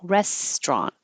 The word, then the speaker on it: restaurant: one open downtown and restaurant we talked about that being just two syllables it looks like restant but we drop the middle one and make it to restaurant restaurant so what' you think